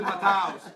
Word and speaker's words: Matthäus: Is it Matthews? Is it Matthäus? Matthäus, right? Matthäus. Yes, I was yes, right, you see? yes, yes, You right. say Matthews. You say Matthews. I said Matthäus.